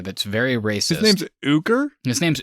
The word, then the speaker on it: Ooker: very racist his name's ooger his name's ooker he's a racist piece of he deserves to die um his name is spelled o-o-k-e-r i'm not kidding uh sounds like oaky but serge has this